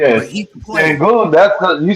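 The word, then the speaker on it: Şengün: Sengun.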